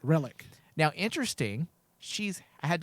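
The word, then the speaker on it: Rillak: for the federation uh lara relic is how you say it relic now interesting she's i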